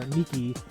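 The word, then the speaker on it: NIKKE: picked up a game called Nik or Niki depending on how you want to pronounce it it's n i k k e uh goddess of Victory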